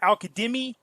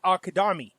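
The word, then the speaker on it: al-Kadhimi: was here because I was curious how you pronounce it. It's not Al Kadimi, it's Al Kadami.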